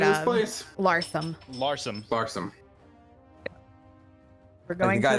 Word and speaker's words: Larsham: Larsum. Larsum. We're going guy to that made Larsum.